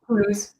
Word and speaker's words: Toulouse: Toulouse.